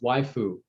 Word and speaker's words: waifu: Oh, okay, so it's pronounced waifu.